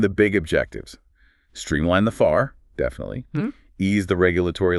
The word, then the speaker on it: FAR: It's the upcoming overhaul of the FAR, that's F-A-R, pronounced FAR.